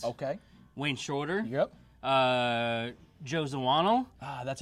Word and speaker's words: Zawinul: Joe Zawinul.